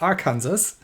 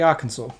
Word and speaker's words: Arkansas: now um yes i i know this isn't pronounced arkansas even though that the other place is pronounced